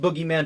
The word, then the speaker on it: bogeyman: the bogeyman which is it's pronounced boogeyman don't spell bogeyman for